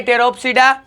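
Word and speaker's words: Pteropsida: इसमें पी फिर से साइलेंट रहेगा, इसलिए इसे पढ़ेंगे टेरोप्सिडा।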